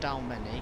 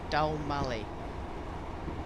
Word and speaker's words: Dalmally: No, it's not Dalmany, because that's on the 5 circle line. Dalmally.